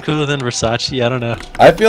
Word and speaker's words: Versace: what oh yeah um it's actually Versace not Versa but I decided to go